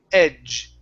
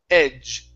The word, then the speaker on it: edge: the end when they when they are combined they make make a j sound so instead of Ed it's j j it's a little bit stronger it's Edge Edge try that eight okay